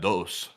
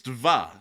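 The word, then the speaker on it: два: I call that dos. That's dva. D-V-A.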